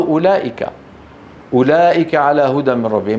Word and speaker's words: أولئك: الرحمن، الله جل جلاله، حروف مكتوبة ولا تنطق، وقلت بالأمس مثل واو أولئك، أولئك على هدى من ربهم، ما أحد يقول أولئك على هدى من ربهم.